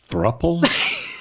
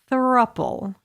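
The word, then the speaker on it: throuple: Throple. Yes. How would you spell that word? T H R O U P L E. Throppple. It's couple, but take off the C and put a three.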